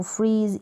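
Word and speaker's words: freeze: FR को जेड को फ्रीज, ई silent है, फ्रीज का मतलब जमाना, जैसे बर्फ जमाते हैं तो फ्रीज करना, जमाना, फ्रीज।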